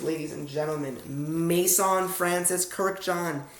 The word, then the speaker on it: Kurkdjian: how to say it I'll slow it down Maison it's like Mason both and I Maison Francis easy Maison Francis Kirk like Kirkland Kirk John the name John Kirk and John Maison